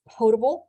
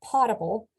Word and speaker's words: potable: water it is pronounced potable not potable potable from potare it's Latin or um basically drinkable